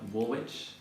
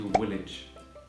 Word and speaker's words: Woolwich: And many people call it Woolwich. It's actually Woolwich.